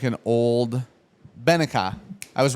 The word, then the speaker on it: ven acá: Benica, that's what it's pronouncing. B. Means come here. But a V in Spanish is pronounced like a B. Yeah, Benica. Not Benaki.